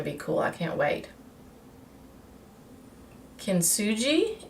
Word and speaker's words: Kintsugi: Kintsugi is how you pronounce it.